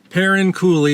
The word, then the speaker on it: Perrine: Parin So, she pronounced it parin. So, that would answer the question about how to pronounce the bridge and stuff.